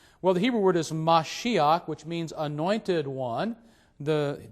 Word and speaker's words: Mashiach: And the reason why it's pronounced Mashiach and not simply Mashich is that in Hebrew, that final letter, chet, along with other similar letters, prefer the ah sound, and so you get